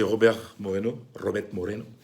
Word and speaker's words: Robert Moreno: Il y a, après le drame vécu par Luis Enrique, la perte de sa petite fille, c'est Robert Moreno, exactement comme tel qu'on prononce en espagnol, qui a repris la sélection.